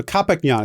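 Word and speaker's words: Qhapaq Ñan: after discovering foreign trade so copic neon is how she pronounced it so apologize for participant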